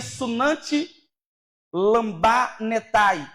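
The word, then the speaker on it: συναντιλαμβάνεται: Este termo ajuda, no grego, se pronuncia sunanti lambanetai, que significa ajudar ao lado, fortalecer ao lado.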